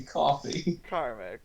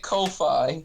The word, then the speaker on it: Ko-fi: Because I didn't realize that it's supposed to be coffee. Karmic, come on. Oh, you sweet No, child. Karmic. Oh. When you put a dash and there's an fi, I'm gonna pronounce it Ko-fi. Like Wi-Fi.